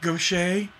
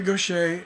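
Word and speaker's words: Gauthier: are freakin geniuses and Gaucher looks like go cheer it's spelled G o CH ier something like that it's a weird spelling but Mary Gautier and they're just like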